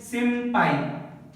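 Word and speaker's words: 先輩: Next word is simpai. Simpai. So before the P and B, if N comes, just remember the ma sound.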